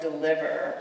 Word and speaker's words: deliver: of certain words, so the first syllable of deliver rhymes not with he, as my mother said it, but with huh, as my classmates at Alt said it.